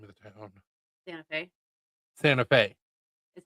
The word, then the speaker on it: Santa Fe: Santa Fe. Santa Fe. Is how it's Literally spelled. spelt Santa Fe. Everybody calls it Santa Fe. It's pronounced Santa Fe.